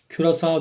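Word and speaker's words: Curaçao: Küresao diye okunuyor.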